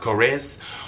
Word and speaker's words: Korres: the brand I'm I'm pretty sure it's pronounced korres of course I bet I think it's korres k-o-o-r-e-s so I picked that